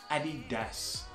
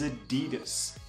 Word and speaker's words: adidas: with a brand named Eddie does now the other pronunciation that I have heard is adidas now adidas would make sense if the guy's name was a dealer but that's not the